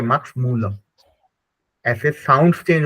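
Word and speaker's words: Müller: मैक्स मैक्स भवन है मैक्स मूलर मैक्स मूल ठीक है उसको मैक्स मूलर बोल रहे हैं लेकिन जर्मन में उसको मैक्स मूल बोलते हैं ठीक है मक्स मूल ऐसे साउंड्स चेंज हो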